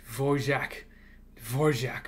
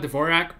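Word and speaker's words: Dvořák: I'm glad people here call it Dvorak, because I cannot roll my R's.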